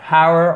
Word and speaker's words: hour: Hour or hour? Hour. No H. No H. Et attention, c'est une des rares exceptions où vous n'avez pas la prononciation du H, comme honor. Honor, not honor. Honor, hour.